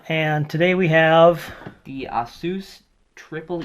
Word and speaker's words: ASUS: today we have the asus triple e pc right and some people say asus but we say asus because that's how they say it but nobody knows that